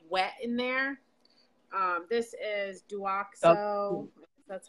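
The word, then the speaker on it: Douxo: This is Duoxo, that's how you say it, chlorhexidine shampoo.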